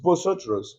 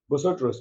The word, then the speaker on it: vosotros: here we have bosos botos the bosos here botos means you people remember the word I'm pronouncing botos because of the v v in Spanish is not pronounced as V is pronounced as B so we have BOS